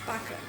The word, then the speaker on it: пока: Пока. Okay, it's пока. No, пока. Or like bye-bye. Пока-пока. Пока-пока. Is that right? So, the stress placement on the last syllable.